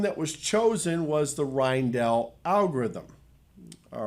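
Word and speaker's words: Rijndael: was chosen was the rhinedell algorithm all right or reindoll i guess it's pronounced rhinedoll it's dutch which is uh named after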